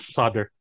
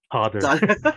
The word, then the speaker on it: solder: solder. Solder. Solder. Tayo solder. Oo. Silent L pala sa US yun.